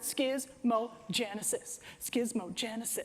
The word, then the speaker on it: Schismogenesis: So we put this is how you pronounce it, Schismogenesis, right?